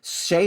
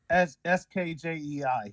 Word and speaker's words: Skjei: Shea is obviously pronounced Skjey. Is that right? Skjei. Yeah. Jei. Sorry.